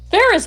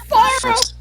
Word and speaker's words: Faros: No, it's Faros. It's Faros. Forrest. Faros, right? No, trust me. Faros. No one gets his name right.